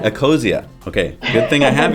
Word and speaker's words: Ecosia: Is it Okacia? Eosia. Eosia.